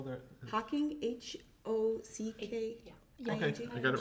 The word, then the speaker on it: Hocking: Is it, how do you spell that? Hawking, H-O-C-K-I-N-G.